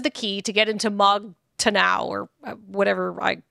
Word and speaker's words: Mog Taranau: key to get into Mog Taranau or whatever. Mog Taran. Taranau? I don't know how to pronounce it. It is MAAGTARANAU. So I'm going to say Mog Taranau.